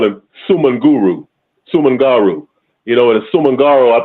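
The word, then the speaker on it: Soumaoro Kanté: But I know a brother told me that the correct pronunciation was Samaro Conte, and I think it was, if I can remember right, I know Conte is spelled Kante, and the first part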